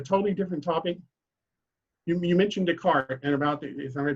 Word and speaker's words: Descartes: You mentioned Descartes and about is I pronouncing his name right? Descartes, yeah.